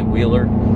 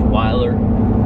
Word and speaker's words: Weiler: of the wheeler we from Oklahoma we say wheeler the wire wheels that we use out of the five liner that anybody uses they wait the the wheeler it's actually Cohn pronounced Wyler that's how they pronounce it it's Wyler it's